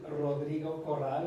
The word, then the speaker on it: Rodrigo Corral: My name is Rodrigo Corral.